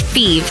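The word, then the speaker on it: Fives: FE is spelled F I V S, like the number, but pronounced FE.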